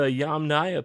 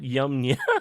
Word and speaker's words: Yamnaya: Yamnaya. Okay, so the Yamnaya people, not Yamnya.